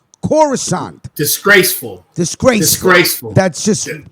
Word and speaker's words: Coruscant: jedi temple it at coruscant not christian right before not croissant coruscant disgraceful disgrace disgraceful that's